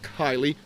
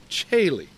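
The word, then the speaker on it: caeli: not Regina and and c a l i is not Kylie but chaye Regina Chile so first off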